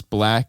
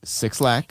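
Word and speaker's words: 6LACK: stuff did you always know to pronounce his name is black and not six lakh yeah I think that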